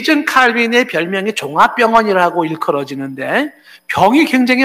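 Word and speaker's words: Calvin: 깔뱅이라고 하는 불어식 발음으로 얘기를 하지만은 존 칼빈은 장로교를 시작한 사람이라고 볼 수도 있고요.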